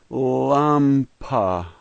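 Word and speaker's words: лампа: The second letter is an A, pronounced just like our A. The third letter is M. It's pronounced just like our M. The next letter is the letter P sound, and they say P. And the last letter is just like our A, and so this word is lampa, lampa, lampa.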